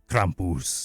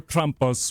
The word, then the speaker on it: Krampus: Krampus. Thank you very much. Or Krampus would be fine.